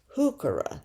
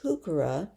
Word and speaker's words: heuchera: And they noticed a plant out there, heuchera, they're called, Heuchera, heuchera, pronounced with the H sound.